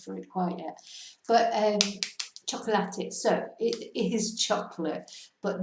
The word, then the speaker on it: chocolate: So this is a nice word because it's spelled exactly the same as in English, just pronounced differently because we pronounce all the syllables. Chocolate, not chocolate. So cada suena cada vocal. Every vowel is sounded.